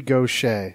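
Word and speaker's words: Gauthier: what is intolerant Mary Gaucher is the merry go Shea yeah you thi okay Sadie his boat again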